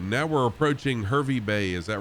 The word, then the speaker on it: Hervey Bay: now from y-u-r-r all right now we're approaching hervey bay is that right ours is that how is that how it's pronounced no top place but nicely guys harvey bay um and it's the uh the whale watching